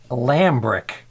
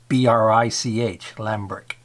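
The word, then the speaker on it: Lambrich: It's a Lambrick. So Albrecht is spelled A-L-B-R-E-C-H-T, and this is spelled L-A-M-B-R-I-C-H, Lambrick.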